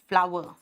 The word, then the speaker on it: flour: बेटा ये जो आटा है ना, इसका प्रोनाउंसिएशन पता है क्या है? फ्लावर, take wheat फ्लावर।